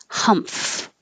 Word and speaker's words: humph: held tightly folded folded humph this is um well it's an mf combination like i said doesn't happen anywhere humph is the noise